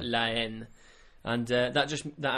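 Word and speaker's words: La Haine: yeah which is actually it's LA and then it's h a i n e so it's h but it's a silent h so Len and uh that just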